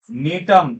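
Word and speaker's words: Gnetum: नाम लिख देता हूं नीतम जी साइलेंट होता है ध्यान रखें हमेशा हमेशा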